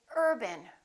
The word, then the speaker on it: urban: example the word Urban we don't say Urban we say Urban repeat after me Urban we stress this part and we reduce this part if you say Urban once again it sounds like a completely different word it's very important to